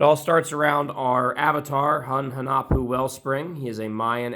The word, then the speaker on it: Hun Hunahpu: They are one of, if not the most represented archetype in the entire game, specifically Hun Hunahpu, Wellspring, or Hun Hunahpu, as you'll hear me pronounce his name.